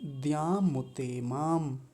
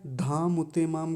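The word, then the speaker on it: द्यामुतेमाम्: ये जो द्य होता है यह कैसे बनता है? द हलंत और य इन दोनों को मिलकर बनता है। द्य द ना कि ध नहीं होता।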